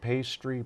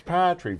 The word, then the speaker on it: Patry: I get pastry, party, putrid, paltry. It's Patry. Very simple.